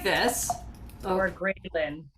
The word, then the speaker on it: ghrelin: Yeah, so it's spelled like this. Oh, or grelin? it's Graylin, which is Okay.